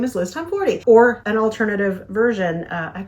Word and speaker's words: Tomforde: Because if you have the Audible version, one says Liz Tomforde, then the next one says Liz Tomforde. And then if you go anywhere online, Google any of the socials, they'll say it's Liz Tomforde.